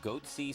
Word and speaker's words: Goatse: getting the goatee picture they're called goatsy security is that my pronouncing that correctly yeah that's right we're analyzing coverage from